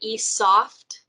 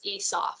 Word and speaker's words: eSOPH: be right here and it's going to say esoft. The correct way to say it is eSOPH so there's your first little tip.